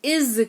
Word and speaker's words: is: है इस्तेमाल करते हैं शब्द इज का एस लगा हुआ है लेकिन ज उच्चारण होता है वह ईमानदार है ही